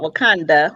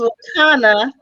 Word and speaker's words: Wakanna: The name of the company is Wakanda, not Wakanda. We didn't steal Wakanda. Spell it. But the name is Wakana. That's WAKANNA.